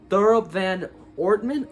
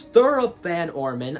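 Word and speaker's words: Thurop Van Orman: he's actually voiced by thoroughbred ortman okay it's thorough van orman i like i think i mispronounced his name sorry about that uh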